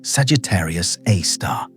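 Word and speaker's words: Sagittarius A*: A source named Sagittarius a star pronounced Sagittarius A star and it is a super massive black hole.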